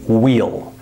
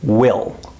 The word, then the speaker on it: we'll: When we say this word at normal speed, we don't say we'll. We say will. Listen one more time. Will. It has the same pronunciation as the word W-I-L-L. Will.